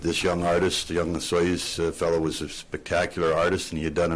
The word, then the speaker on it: Osoyoos: There is no soy in Osoyoos.